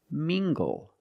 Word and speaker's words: mingle: Let's look at this word, mingle, using the nasal sound and the hard G. Together, mingle. Mingle.